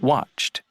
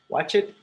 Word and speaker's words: watched: So, never say talk it. No, talked. Talked. Never say stayed. It stayed. Watch it. No, watched. Watched. Enjoyed. Enjoyed. Okay, remember, Enjoyed. you only add a syllable to the words that end in T or D.